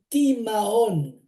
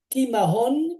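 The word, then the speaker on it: תמהון: Alors, j'ai fait la recherche et le mot égarement en hébreu, ça s'écrit Tav, Mem, Hei, Vav et Nun final. Ça veut dire Timahon. Timahon, qui veut dire égarement, il veut dire aussi perplexité, étonnement.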